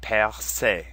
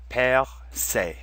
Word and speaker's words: percé: They're both pronounced the same, percer and percé. Notice that the first E is our accent grave sound, where the final E in both words is our accent aigu sound.